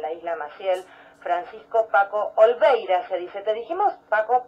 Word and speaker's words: Oliveira: ¿Olveira es tu apellido?